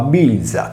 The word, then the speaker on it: Velia: In altre parole, con il betacismo che trasforma la consonante V in B, il termine si pronunciava bilza, che in sardo traduce l'italiano veglia.